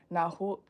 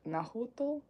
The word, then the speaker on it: Nahuatl: It's Nahuatl. Nahuatl, asking that he tell the bishop of her appearance and that a church be built in her honor.